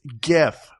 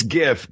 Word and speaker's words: GIF: It's GIF.